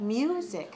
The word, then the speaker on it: music: the fourth one okay now how about music how many syllables here music two syllables where's the stress music two syllable stress the first syllable two one okay music